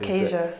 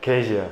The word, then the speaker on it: Kasia: Is that how we pronounce that? Kasia. Kasia, exactly. Let's go. Asia with a K.